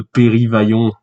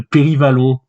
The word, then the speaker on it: Périvalon: le roi de Périvaillon. Non, de Périvalon. Périvalon. Voilà. Périvalon. Périvalon. Voilà. Donc, normalement, si je me trompe pas, ça se prononce Périvalon.